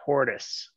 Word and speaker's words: tortoise: you want to say tortoise it's quite different yeah the tortoise poor kiss tortoise i think we're yeah i'm always saved with tortoise well yeah that's how it's spelled but not how it's pronounced i i got you